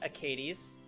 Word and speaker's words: Akadis: Hey, King, have you thought about running SS Akadis with Dark Corvus? Yeah, welcome to my life. I swear it's pronounced Acades.